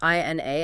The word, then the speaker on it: Ina: And, just for anyone who's not familiar, it's I-N-A and it's pronounced Ina.